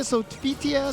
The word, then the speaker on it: Sophitia: How do you pronounce it? Sophitia, Sophitia, Sophitia. Sophitia? At least that's what the announcer says.